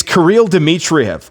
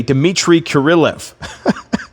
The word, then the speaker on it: Kirill Dmitriev: It's Kirill Dmitriev. I said yesterday, Dmitry Kirilov. Kirill Dmitriev.